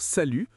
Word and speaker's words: salut: C'est la même chose pour salut, le thé est muet ou petit, le thé est muet au masculin.